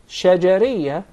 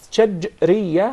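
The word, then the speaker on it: شجرية: It's commonly mispronounced. Some of even the Arab would say shajariyah, and there is a big difference between both of them. When there is a sukoon on the letter jim, that's shajriyah, means from the middle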